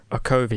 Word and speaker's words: Okovi: okay of course it is a personal album Arco V is that the right pronunciation mm-hmm yeah so a couple of themes